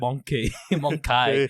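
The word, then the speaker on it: Mon-keigh: it's like but it's spelled in a different way it's like m-o-n-k-e-g-h something like that it's like monkey monk that's what they call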